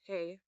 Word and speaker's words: He: Lastly is the second H, again pronounced hey, which represents Earth.